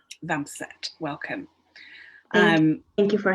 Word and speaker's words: Vambeset: guest today is is it vampire is that how i pronounced your surname yeah one tip vancette welcome um thank you